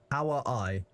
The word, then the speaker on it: kawaii: You do pronounce the I at the end. It's Kawaii.